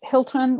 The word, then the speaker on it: Hylton: And it's not Hylton like the hotel. It is not. It's Hylton with a Y. Some people let the Y throw them and they think it has to be pronounced differently, but it's actually the old English spelling.